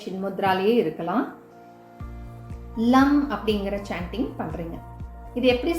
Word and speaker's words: லம்: சொல்ல வேண்டிய அந்த மந்த்ரா, ரூட் சக்ராக்கு உண்டான மந்த்ரா லம் அப்படிங்கிறது தான், LAM. லம் அப்படின்னு உச்சரிச்சுட்டு ஃபுல் ஃபோக்கஸ் உங்களோட ரூட் சக்கரால மட்டுமே நீங்கள் கவனமாக வச்சுக்கோங்க.